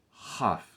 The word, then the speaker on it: כ: É o mesmo som, basicamente, do Het, certo?